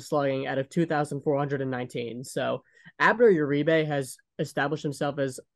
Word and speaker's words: Abner: for the eighth yeah abneth Uribe gotta make sure I get the pronunciation right yeah Abner just just like him just like just like Abner Doubleday I remember yeah I